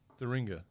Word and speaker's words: Thuringia: The history is that it's a regional specialty from, I'm going to need you to pronounce that, Thuringia? Thuringia.